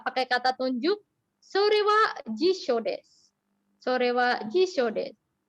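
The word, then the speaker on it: 辞書: Pelafalannya jisho.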